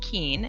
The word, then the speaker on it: Keane: for the invitation uh my name is keane it's pronounced keen and i'm on the